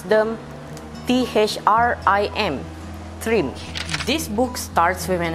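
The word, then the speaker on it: Thrym: for the character's name such as trim we pronounce them t-h-r-i-m trim this book starts with an introduction of magnus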